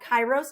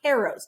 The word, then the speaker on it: kairos: to fall flat potentially this one is called kairos or karos depending on how you want to pronounce it this is a timeliness appeal greek